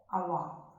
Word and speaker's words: Awadh: Two way it is pronounced O-U-D-H, Oudh or Awadh.